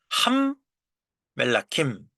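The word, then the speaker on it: הַמְּלָכִים: 첫음절은 다친 음절이기 때문에 쇼화가 발음되지 않죠.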